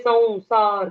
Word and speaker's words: संसार: संस्कृत की वर्णमाला में जब भी स पर अनुस्वार आता है, हम्म। तो वो यई और वौ, ये दो उच्चारण में वो परिवर्तित होता है। वो जन। जैसे अगर हम संयम ऐसा शब्द कहते हैं, हम्म। संयम, तो स के ऊपर जो अनुस्वार है वो यई बन जाता है।